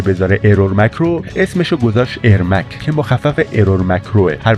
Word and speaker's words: ارمک: آلتیمت مورتال کامبت س که اونجا گوینده اسمشو به جای ارمک ایرمک تلفظ می‌کرده در واقع اسم ایرمک